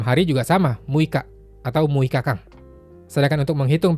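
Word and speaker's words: 六日: Kalau yang mui itu untuk tanggal ya, muika. Atau untuk jumlah hari. Kalau 6 hari juga sama, muika atau muikakang.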